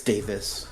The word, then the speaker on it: Davies: I Ray Davies it's Davis Ray Davis that's the British pronunciation or the musian that's